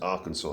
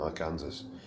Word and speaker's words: Arkansas: with a a AR on the front is pronounced Arkansas rather than Arkansas America is weird anyway but you're not going